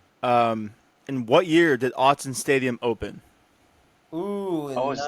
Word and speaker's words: Autzen: In what year did Autzen Stadium open?